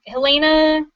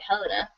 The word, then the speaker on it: Helena: But I think we've established that her name is pronounced Helena, not Helena.